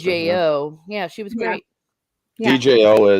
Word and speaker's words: Djo: pronounced it was either d.o or joe with just silent d how they say it on the audible's joe yeah joe yeah kind